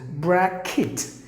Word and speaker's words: bracket: We're okay with the word except one particular sound, that is instead of cat, we usually say bracket for the letter E. That is actually wrong. You have to say it as E, like E.